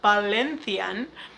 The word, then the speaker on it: Valencian: were speaking in valencian which by the way is pronounced ballinthian and he could hardly